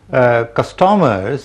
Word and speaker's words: Custommerce: Custommerce is a better pronunciation than customers. It's a combination of two words, customer and commerce.